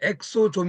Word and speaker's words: 엑소좀: 거니 EXO EXO 있니다 그래서 한국으로 발음이 엑소좀 있니다 엑소좀 이건데 알고 보니까 이게